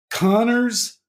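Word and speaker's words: Kanner: what I think was I I think that Connor and Asperger and it is pronounced Connor even though it looks like Conor but um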